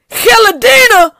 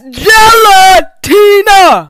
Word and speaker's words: gelatina: We not finna do is just speed past the fact that she pronounced the G-E-L like hell and the T like the letter D. Gelatina? No, that's gelatina.